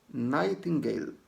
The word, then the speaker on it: Nightingale: Pronuncia-se Nightingale.